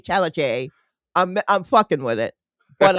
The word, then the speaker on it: Chalamet: And then Chalamet with French, with French, you don't say like that last consonant usually. Rock on. So, yeah. So I say Timothée Chalamet.